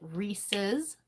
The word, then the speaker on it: Reese's: I'm sorry about that some people over there pronounce it Reese's and some people call it Rees re so can we phonetically spell that I say Rees it's like like it's like it belongs to Reese so it's Reese's